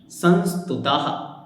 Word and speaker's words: संस्तुतः: जैसे श्लोक नंबर 2 हम देखेंगे तो यह है दो बिंदियां, तो यह संस्तुतः, तो वहां हा का उच्चारण आपको लाना है।